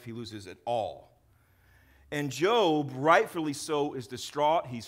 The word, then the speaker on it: Job: And some people pronounce it Job. It's not Job, it's Job.